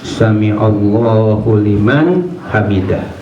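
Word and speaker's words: سمع الله لمن حمده: tapi saya dengar bacanya sami Allahu liman hamidah ya. Jadi dalnya itu dipanjangkan ketika membaca tasmi', sehingga ketika selesai sholat bahkan selesai wirid ya dia kebetulan sholat ba'diyah maghrib ya agak minggir.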